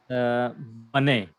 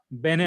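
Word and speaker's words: בני: Bene. Bane. Okay. Or we can say Bene also. Bane. Ben means yeah. Ben means son. Bane Israel. That is Bane Israel.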